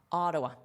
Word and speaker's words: Ottawa: not usually an adult, say a because when you say a, you open your mouth very wide. Aa a. And this is the stress syllable, so you hear it the most. Now notice this is a flap t, so it sounds like a d.a. Dwa dwa. Ottawa. Ottawa. Now you can say it like a native.